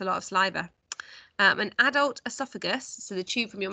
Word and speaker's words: esophagus: via a tube called the esophagus pronounced earth off a gus i wish they had